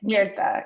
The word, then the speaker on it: Mirta: Havana and Myrta's life, or Mirta, how do you say it? Mirta, yes.